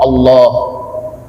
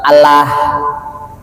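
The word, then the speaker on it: الله: Nasrullah, lafaz Allah di sini tafkhim, tebal, mulut agak monyong, suara kedengaran seperti oh Allah, bukan Allah ya.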